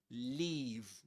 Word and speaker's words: leave: And the one that uh Luke mentions here is leave. Leave. Long e.